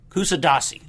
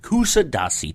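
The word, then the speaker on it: Kuşadası: Not really, that wasn't the name of it, but Kusadasi, that was it. Kusadasi, Turkey, that's where we were.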